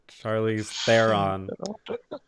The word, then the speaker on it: Charlize Theron: could you could you pronounce it Charlize Theron Charlize Theron is the proper pronunciation are we really gonna go into pronunciations mr.